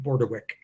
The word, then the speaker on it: Bordewich: that you received, but my last name is actually pronounced Bordewich, as if it were a K at the end.